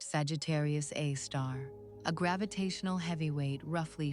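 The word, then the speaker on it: Sagittarius A*: It houses a super massive black hole with the designation Sagittarius A, pronounced Sagittarius A star.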